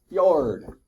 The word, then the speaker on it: fjord: Very few times we get to put the letters F and J next to each other and make it sound like a Y. Fjord, right?